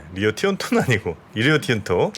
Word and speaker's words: 리오 틴토: 리오 티오노도 17만 톤. 뭐라고요? 리오 티온토.